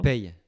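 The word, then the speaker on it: Peille: How do you pronounce the town you're from? Pey.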